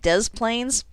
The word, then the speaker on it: Des Plaines: to be silent but we're going to pronounce both s's in this name and make it des plaines talk about consistency i